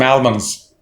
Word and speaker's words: almond: going to buy some almonds not al ones it's almonds um almonds stress on ah l is not pronounced here it's almond another word